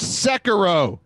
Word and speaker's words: Sekiro: And then we actually have it's pronounced Sekiro.